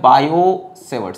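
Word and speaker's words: Biot–Savart: वो हमारे पास है बायो-सेवर्ट की। बायो-सेवर्ट, टी कैपिटल में लिखा है क्योंकि टी साइलेंट है इसीलिए ऐसी, ठीक है।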